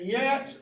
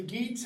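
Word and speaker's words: Geats: children of Shield okay the yats or the geets however you want to pronounce it the sweds sons of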